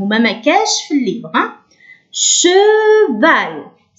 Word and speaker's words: cheval: CH ننطقه كالشين في العربية ش. لكن كي نحطولو E ش. كي نحطولو A ش. كي نحطولو إي شي. إذا cheval. هل نسمع E؟ نعم. ال E تنطقوه من الباطن. من الباطن ما نقولوش نقولوش في الفم. ما نحبسوش من الفم لازم تخرجوه من داخل.